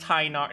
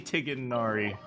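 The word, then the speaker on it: Tighnari: It's pronounced tinar. No, it's definitely tigari.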